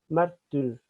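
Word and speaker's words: μάρτυς: La palabra testimonio en el idioma griego es martus o mártir, porque la Hipsilon suena mitad U, mitad I. A veces se traduce como U, como I, pero en griego se pronuncia mártir.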